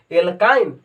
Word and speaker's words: alkyne: तो जेकरा में इन आएगा ओकरा में डबल बॉन्ड और जेकरा में आइन आएगा उसमें ट्रिपल बॉन्ड, एल्काइन, आइन आ रहा है ना।